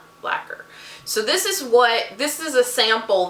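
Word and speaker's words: Blacquer: And Blacker is spelled B-L-A-C-Q-U-E-R. Blacker.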